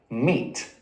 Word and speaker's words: meat: It enters the Great Vowel Shift with its Middle English pronunciation, mate. Mate, mate. Partway through, its pronunciation becomes more like mate. Mate. And by the end of it, it's pronounced much more like we say it now, meat.